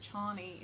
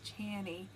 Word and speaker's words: Chani: When I read the book, I thought it was Chani, and that's what I was going to name her, and then the movie came out and they pronounced it Chani.